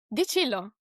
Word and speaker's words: Di Cillo: So if it is Italian, is it di Cillo or di Cillo? Di Cillo, actually. Okay.